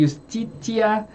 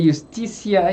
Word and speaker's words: justitia: Aqui também o latim tem um problema de pronúncia. Alguns podem falar de justitia, de justicia, e aí vai.